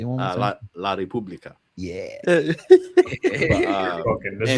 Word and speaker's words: La Repubblica: And since then, all of this stuff after these press conferences, these are reported by La Repubblica, you know, a lot of sources.